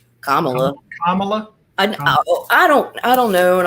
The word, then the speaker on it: Kamala: I think it's Kamala.